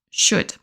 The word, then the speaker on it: should: Passons maintenant à should. De nouveau, on ne prononce pas le L.